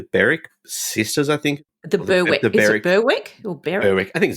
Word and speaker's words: Berwick: sisters I think the berck Berwick or berck I think it's Beric there's a suburb in Victoria that's we we pronounce it as Beric the the Beric cases